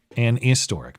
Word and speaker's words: an historic: Well, that's sort of the way that it is pronounced. And um I I've heard a lot of people who speak with British accents use uh you know, making the H silent when when the the